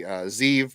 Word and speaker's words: Zeev: Unfortunately, but this one comes from our buddy Zeev, pronounced like Steve, Zeev O'Hale.